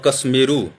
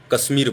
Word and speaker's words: कश्मीर: हम लोग काश्मीर उच्चारण करते हैं, ये गलत है। काश्मीर मीन्स हुआ पुरुष, वहाँ का पुरुष और काश्मीरी मने हुआ वहाँ का स्त्री, ये गलत है, कश्मीर होना चाहिए।